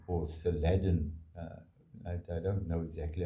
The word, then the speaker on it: Saladin: And he was called Saladin or Saladin. I don't know exactly how they pronounced it, but the spelling was different.